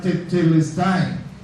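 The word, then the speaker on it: τετέλεσται: Esa palabrita extraña que tienen ahí se pronuncia tetelest.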